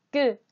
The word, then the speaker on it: ㄲ: 끄. 끄. 자음 쌍기역은 기역과 같은 곳에서 소리가 나요. 쌍기역은 자음 기역과 발음하는 방법이 비슷하지만 조금 달라요. 공기를 더 적게 내보내고, 목에 힘을 주며 소리를 내요.